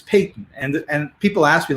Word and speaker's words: Paton: Well, and the problem is that if you look here and you see my name, I say it's Paton, but if you use proper English, it's Paton.